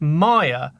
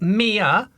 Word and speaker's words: Mia: Monkey Mia is actually pronounced Maya as in the department store or not Mia as in Mia Farrow and as pronounced on